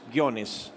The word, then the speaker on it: Ghionis: an accent above the o to help people pronounce it it's like a tone in Greek gonis and then the motif it's sort of like